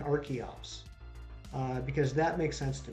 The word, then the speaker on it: Archeops: And so now that makes sense to pronounce the CH as a hard C, and I'm good with that. That's perfect. So I'm going to start trying to say Arkin and Archeops because that makes sense to me.